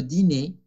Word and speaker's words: dîner: Ensuite, j'étudie un peu le français, puis je prépare le dîner. Aquí sí, no se va a pronunciar la R. ¿Por qué? Porque normalmente ER es E, como los verbos parler, manger, ¿ok?